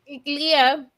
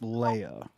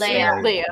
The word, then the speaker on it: Leia: The first one, it's Leah, Star Wars, right? Carrie Fisher got her star in Hollywood. That is pronounced Leia. Leia, is it Leah or Leia? It's Leia.